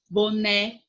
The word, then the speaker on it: boné: Em é, boné. O né é a sílaba mais forte.